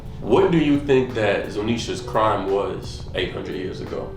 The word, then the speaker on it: Zunisha: forgetting how to pronounce the how do you pronounce it? It starts with a Z. The elephant. Zunisha.